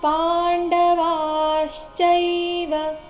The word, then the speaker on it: ಪಾಂಡವಾಶ್ಚೈವ: ಯುಯುತ್ಸವಹ ಅಥವಾ ಯುಯುತ್ಸವಹ ಮಾಮಕ ಪಾಂಡವಶ್ಚೈವ ಮಾಮಕಾಫ್ ಇಲ್ಲಿ ಕದ ನಂತರ ಇರೋ ವಿಸರ್ಗದ ಉಚ್ಚಾರಣೆ ಅರ್ಧ ಫ ರೀತಿ ಬರಬೇಕು ಮಾಮಕಾಫ್ ಪಾಂಡವಾಶ್ಚೈವ ವ ದೀರ್ಘ ಬಂದು ಅದರ ನಂತರ ಅದರ ಮೇಲೆ ಆಘಾತ ಬರಬೇಕು ಮುಂದೆ ಚೈ ಎಂಬ ಸಂಯುಕ್ತಕ್ಷರ ಬಂದ ಕಾರಣ ಪಾಂಡವಾಚೈವ ಕೊನೆ ಚರಣ ನೋಡಿ ಕಿಮಕೋ